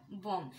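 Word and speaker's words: bomb: এম বি এটার উচ্চারণটা কিন্তু বম না এটার উচ্চারণটা বম এটা একটা সাইলেন্ট বি ওয়ার্ড সিমিলারলি অনেক সাইলেন্ট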